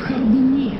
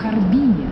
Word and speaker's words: Харбине: Не в Харбине, а в Харбине. В названии города Харбин ударение падает на второй слог.